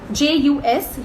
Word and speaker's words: jus: J-U-S, jus, so that J is silent, guys.